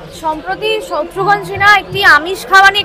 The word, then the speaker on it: শত্রুঘ্ন: সম্প্রতি শত্রুঘ্ন সিনহা একটি আমিষ খাওয়া নিয়ে একটি মন্তব্য করেছেন, তো এই মন্তব্যের আপনার কি বিশ্লেষণ? আপনি বললেন সম্প্রতি শত্রুঘ্ন সিনহা, শব্দটি শত্রুঘ্ন আমরা এভাবে উচ্চারণ করি, কারণ এই বিহারিরা কিন্তু মমতা বলে না, মমতা বলে।